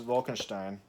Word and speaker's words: Vol'Kenshtein: So this is Vol'Kenshtein, who's helped put all this stuff together. And it's spelled here V-O-L and then apostrophe K-E-N-S-H-T-E-I-N, Vol'Kenshtein.